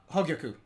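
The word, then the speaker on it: Hōgyoku: Hogyoku.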